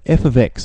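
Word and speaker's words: f(x): some notation for functions now we're given that F ofx that's how you say it f ofx so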